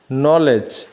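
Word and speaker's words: knowledge: KN এর উচ্চারণ নিয়ম হলো, ওয়ার্ডের শুরুতে KN থাকলে কে উচ্চারিত হয় না, শুধু N এর উচ্চারণ হয়। যেমন নো মানে জানা, নলেজ মানে জ্ঞান, নক মানে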